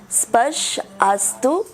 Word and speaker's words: स्पर्शास्तु: आपका गड़बड़ यहाँ हो रहा है, आप स्पर्शास्तु बोल देते हैं, स्पर्शास्तु है। स्पर्श आस्तु, स्पर्श आस्तु, राइट।